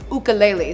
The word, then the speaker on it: ukulele: It's actually spelt the way that it's pronounced, but people say it wrong. It's ukulele, so of course, it's